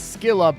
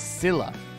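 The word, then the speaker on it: Scylla: a rough man U.S pronunciation is skilla British pronunciation is Sila all right do we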